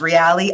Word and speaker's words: Reale: It's owned by the, I believe it's pronounced Reale, R-E-A-L-E, Family Limited Partnership.